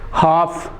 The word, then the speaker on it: half: तो ये वॉक हो गया, एल इसमें लेटर साइलेंट होगा। ऐसे वर्ड है talk, TALK, talk, walk, talk. एक वर्ड है HALF, हाफ।